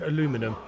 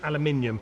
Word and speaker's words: aluminium: is that we of like aluminum aluminum yeah aluminium aluminium look at all the syllables and you'll find it's aluminium you can start that